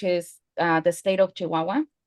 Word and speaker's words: Chihuahua: Like in my state you pronounce the ch a lot.